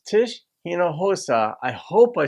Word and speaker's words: Hinojosa: Latino because it's Tish hinojosa I hope I said that correctly the H and the J are pronounced similarly in Spanish but west side of